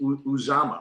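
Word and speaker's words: Uzomah: Uzama, right?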